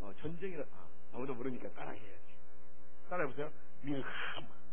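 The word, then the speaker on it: מלחמה: 밀하마. 할 때 이게 가래가 나오듯이 발음이요. 밀하마.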